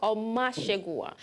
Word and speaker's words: Omoshogunwa: You tried to pronounce it the Yoruba way. It's a Delta name. It's an Ishekiri name, Omoshogunwa. Omoshogunwa.